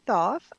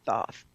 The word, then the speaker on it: Thoth: That's the Greek pronunciation, Thoth.